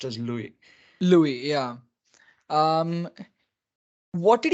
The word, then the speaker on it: Louis: And in French, the last letter of a name is always pronounced as silent. So right, even if it is S, it would be pronounced as Louis.